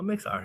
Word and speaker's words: Mixar: Oh, Mixar. Yeah, I've seen you. Rhymes with Pixar.